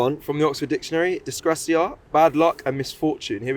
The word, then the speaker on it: disgrazia: From the Oxford Dictionary, disgracia, bad luck and misfortune. Here we go. Here's how you say it. Yeah. Disgrazia.